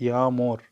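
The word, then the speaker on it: yağmur: وقلنا اليوم شاقة ما تلفظ فتقول يامور يامور.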